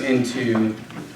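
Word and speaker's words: ἐν: initial H sound thus hin means one and is pronounced H and in means in pronounced in okay yes out to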